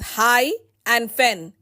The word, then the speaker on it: hyphen: The word hyphen is pronounced as high and fen.